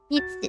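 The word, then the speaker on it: 虹: On the one hand, the pronunciation of rainbow in Japanese is "ni ji" which is the same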